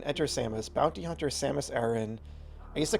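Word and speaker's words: Aran: Enter Samus bounty hunter Samus Aaron. I used to call her Samus Iran. I used to mispronounce her last name.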